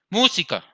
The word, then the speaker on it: música: Entonces tenemos, pongámosle, música. Entonces, mu lleva el acento. Por lo tanto, se tilda.